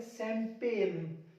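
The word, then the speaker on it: champagne: इसको पढ़ेंगे शैंपेन, शैंपेन, यहां सी एच को साफ पढ़ेंगे, शैंपेन।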